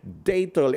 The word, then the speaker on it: Datol: They pronounce it in the A-E-I-O-U, yung gano'n Datol.